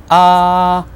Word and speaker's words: а: And the way it sounds is ah. Just bear with me when I say something that seems like you should be repeating it. Go ahead and repeat it twice. Ah, ah. The way you would say it to a doctor who tells you, open your mouth, say ah. Good.